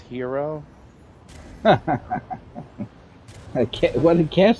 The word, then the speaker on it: gyro: a perfectly balanced gyro I believe it's pronounced hero I can't well the